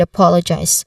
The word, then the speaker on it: apologize: Now, the second syllable, pol, it is often mispronounced. So you ensure that the O here has the short O sound, as in hot. So the final syllable, eyes, It sounds like eyes, but with a buzzing sound instead of hissing. There's a diphthong here, I. So eyes. Again, eyes. Apologize. Apologize. Apologize.